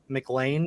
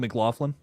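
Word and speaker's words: McLaughlin: that's interesting it's got um uh Caleb uh mclan I think is how you say that uh he's from stranger things okay oh Caleb mcclaflin yes yeah yeah Lucas from stranger for those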